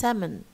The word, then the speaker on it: salmon: اوكي so sandwich or sandwich منها او بما it's okay and then limb and then salmon ما نقولش سلمون خالص salmon. اوكي احنا علبة السلمون والكلام لا salmon.